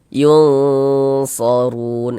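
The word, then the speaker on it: يُنْصَرُونَ: Cara membacanya disamarkan kemudian didengungkan. Nah, yang disamarkan itu apanya? Bunyi nun sukunnya. Jangan dibaca yun begitu tapi disamarkan. yunsorun. Yunsorun seperti itu. Di bagian yunnya itu kita tahan sejenak suaranya.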